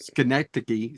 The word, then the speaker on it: Schenectady: Schenectady.